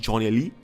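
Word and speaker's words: Gjonelly: n e l l y of course it's pronounced Johnny Lee and rice needs to find him and tell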